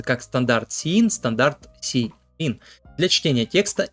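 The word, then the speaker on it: std::cin: операторы произносится как Стандарт и операторы СТД сиин произносится как стандарт sein Standard cin для чтения текста и чисел с консоли как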